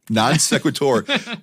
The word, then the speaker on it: non sequitur: At 11 minutes, out of nowhere, this mispronunciation. Wade It's a came by non the next day. sequitur. Non sequitur.